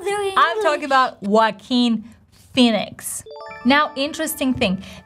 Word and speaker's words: Joaquin: If we open the Wikipedia transcription of his name, we see H as the very first sound, but in reality people are dropping this H sound, and if you've been